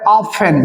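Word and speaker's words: often: इसमें सबसे बड़ा वर्ड ये याद रखने का है, ऑफन। टी साइलेंट है, इसमें ध्यान रखना है। इसको हम लोग पढ़ते हैं ऑफन।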